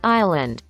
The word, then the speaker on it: island: Island. Ajá, se dice sin ese.